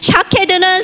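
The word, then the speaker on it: שָׁקֵד: 자, 여기서 재미있는 표현은 살구나무가 히브리어로 샤케드입니다. 근데 12절에 내가 내 말을 지켜 나왔어요. 지키다. 이게 샤카드입니다. 해보세요. 샤카드. 똑같죠, 발음이. 글씨도 똑같아요. 발음만 달라. 샤케드는 살구나무고 지키다는 건 샤카드예요.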